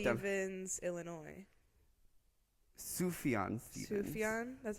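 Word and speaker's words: Sufjan: down I wrote down Stevens Illinois sufan Stevens sufan that's how you say it yeah cool um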